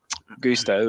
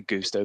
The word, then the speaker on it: Gusto: as well as um Gusto as well coming in I say Gusto Gusto Gusto pronouncing it like he's like one of those meal prep delivery services um with with gusto